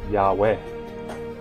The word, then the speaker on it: Yahweh: the majority of scholarship agrees that this is pronounced yahweh while one can get caught up with the